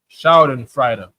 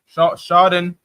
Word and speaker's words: Schadenfreude: And they take joy in it based on their Schadenfreude. I'm saying it wrong. Schadenfreude.